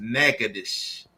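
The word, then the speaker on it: Natchitoches: And then two definitely want to give a shout out to to my wife's family in Nagadish, Louisiana. It's pronounced Nagadish, Louisiana.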